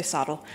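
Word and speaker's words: SoTL: I pronounce it sodal some some people say sodle.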